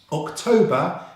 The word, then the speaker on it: October: October is a 3-syllable word with stress on the second syllable.